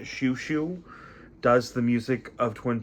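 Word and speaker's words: Xiu Xiu: I love uh if you ever want to hear really interesting interpretations of the soundtrack of Twin Peaks, listen to Shushu. Xiuxiou is how you spell it. Shushu does the music of Twin Peaks.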